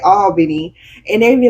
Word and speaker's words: Albany: We say all like A-L-L. we say A-W. It's like an all. Oh, yeah, Albany.